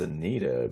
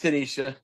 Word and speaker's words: Tanisha: Dude, I thought it was Anita, but No, it's Tanisha. Tanisha.